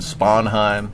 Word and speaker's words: Sponheim: sarelli suelli You know a lot of people mispronounce my name David sponheim David spanheim that's correct pronunciation but oh he's still